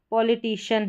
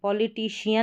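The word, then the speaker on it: politician: बिना नियम के अगर आप प्रैक्टिस करते हैं तो यहां पर देखें पॉलिटिशियन है। पॉलिटिशियन नहीं पढ़ेंगे। पॉलिटिशियन पढ़ेंगे। सी आई एन है।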